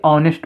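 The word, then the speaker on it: honest: नेस्ट postman लिखा है लेकिन इसको क्या पढ़ेंगे ऑनेस्ट पोस्टमैन ऑनेस्ट पोस्टमैन तो ये आ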